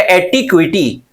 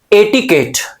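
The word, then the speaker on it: etiquette: अब देखो ये वर्ड अक्सर देखा गया एटिक्विटी, यहां पे प्रोनाउंसिएशन का ख्याल रखना है।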